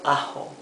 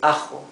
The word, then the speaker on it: ajo: Not ajo. It's ajo. It's rougher than the English H.